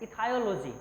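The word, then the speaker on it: ichthyology: Study of fish को हम लोग बोलते हैं इथायोलॉजी, ठीक है। स्टडी ऑफ फिश को बोलते हैं, CH साइलेंट पढ़ते हैं, इसको हम लोग इथायोलॉजी पढ़ते हैं, ECHTHYOLOGY।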